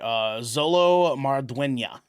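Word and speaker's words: Xolo Maridueña: I just want to make sure I pronounce his name correctly. Zolo Marduena.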